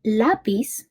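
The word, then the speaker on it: lápiz: are we ready so lapiz as you could hear it has a stressed on the a lab piece thus it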